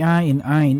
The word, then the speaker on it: Aine: The Ain Ain is the love Ain has only for Claf Chan. And the na is the sound of my true feelings. So it's pronounced Aina?